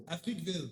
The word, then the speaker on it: Africville: Okay, Africa is kind of in the word. Africville.